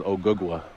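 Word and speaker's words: Ogugua: My real name is Ogugwa.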